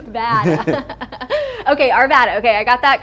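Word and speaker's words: Arvada: They said ar They said ar uh vada arv bad like bad like bad like Arvvada. Arvad bad. Okay. Arvvada.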